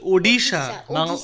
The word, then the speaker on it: Odisha: এই উচ্চারণটা হচ্ছে ওডিশা। বাংলায় বলবো উড়িষ্যা। ওডিশা, ODISHA, ওডিশা।